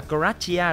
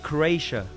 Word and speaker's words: Croatia: Ở Việt Nam đọc là Croatia đúng không? Nhưng mà bên này đọc là Croatia.